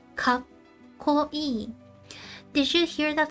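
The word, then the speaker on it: かっこいい: Whenever you see a small tsu, we skip that sound. You don't pronounce it.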